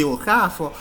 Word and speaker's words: Okafor: You pronounce it like that. That is the nice. Don't say Okafor. Pronounce it nicely. That is the best way of pronouncing that name.